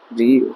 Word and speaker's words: ऋ: ऋ का वर्तमान उच्चारण र प्लस इ ऋ होता है।